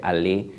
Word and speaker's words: Allais: si mal no recuerdo, que se escribe Allais, pero se pronuncia Allais.